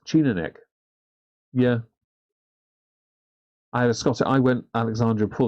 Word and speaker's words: Teaninich: So I'm going to go with Teaninich solely because T makes more sense to be pronounced as a T.